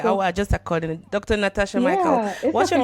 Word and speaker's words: Mickel: this is my married name and it's actually pronounced Michael it looks like Mel Michael but it's actually pronounced Michael so I get that all the time so